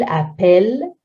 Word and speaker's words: appelle: But when I say il appelle, it becomes an E, and that's the E with no accent before double L.